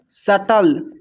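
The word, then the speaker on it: subtle: फिर नेक्स्ट है सटल। सटल में भी बी साइलेंट है।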